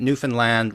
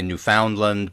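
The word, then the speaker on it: Newfoundland: say uh remember that newfinland rhymes with understand that's how you pronounce it you don't say newfinland necessarily or new a lot of people say New Foundland but that's not how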